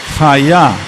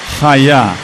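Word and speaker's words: היה: A ver o tener en pasado y en futuro es el verbo ser o estar, que es haya. Hayá. Y así se escribeá.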